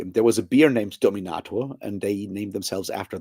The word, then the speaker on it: Dominator: high school that was called Dominato um obviously pronounced in German but spelled the same way because you know it's